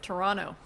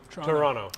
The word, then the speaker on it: Toronto: a comment that's uh torontonians pronounce it Toronto Toronto never gonna do that not Toronto not